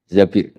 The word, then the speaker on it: Zabir: Di hadis ini bukan bacanya bukan Zubair, tapi Zabir. Abdurrahman bin Zabir.